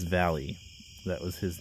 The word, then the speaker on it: Valles: Anyway, we're going to talk about Val-ee Mines, because that's how it, or Valles Mines, because that's how it's actually pronounced. It's not Vals or Vales, or as the Google Maps likes to say, Valles or whatever, Valles.